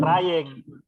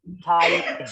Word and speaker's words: tiring: Try. Bukan trying, tiring, ya. Tiring, ya.